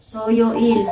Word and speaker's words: 수요일: Wednesday, 수요일, Soyoil. So, iba talaga mag-pronounce yan, diba?